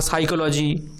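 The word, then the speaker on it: psychology: যেমন pneumonia, সাইকোলজি, এরকম সব ওয়ার্ড যেগুলো উচ্চারণ করার সময় পিগুলো সাইলেন্ট হয়ে যায়, কিন্তু লিখতে হবে নাহলে ভুল হয়ে যাবে।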